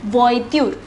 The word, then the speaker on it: voiture: this word is voitude see the pronunciation it is voiture voiture means car since there